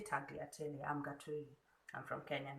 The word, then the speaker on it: tagliatelle: So this shape is called the tagliatelle. The G is silent. I'll say tagliatelle.